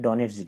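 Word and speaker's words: Donets: है इसका नाम है डोनेटस तो डी ओ एनई टी एस डोनेट इसको बोलते हैं डॉनेज रिवर तो ये डोनेटस है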